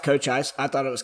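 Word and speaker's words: Cochise: It is pronounced Cochis. I thought it was Coochis for most of my life.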